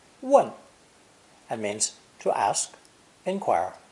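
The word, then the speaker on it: 問: this phonosomatic compound is pronounced fourth tone one it means to ask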